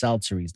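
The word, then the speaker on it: psalteries: be the singers with instruments of music and shelteries that's how it's pronounced salterries now what a sultry is is basically an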